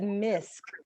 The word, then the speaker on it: M.I.S.C: it's a beautiful thing and it's you said misk i didn't know that so that's what you